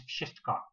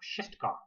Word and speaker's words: wszystko: Now, it has no trouble picking up any word from me except one word, which is wszystko, which means everything.